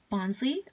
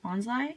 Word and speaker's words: Bonsly: for him I have a bonley or bonsly some people pronounce it differently um I have filmed